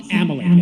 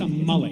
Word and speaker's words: Amalek: It's not amalc. It's a mullet. Mullet.